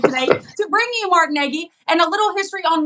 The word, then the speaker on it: Nagi: I've had to ask four times how to pronounce his name correctly so I'm very excited today to bring you mark Negi and a little history on Mark he was